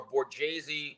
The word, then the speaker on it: Borghese: Our last names are Borghese without the H. Back in the day, they made Tony change his name because they said Borghese, it's too ethnic.